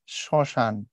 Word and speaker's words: শ্মশান: আমি যখন লিখি হচ্ছে এই যে শ্মশান ম ফলার উচ্চারণ করা হয় না উচ্চারণ করার সময় পড়া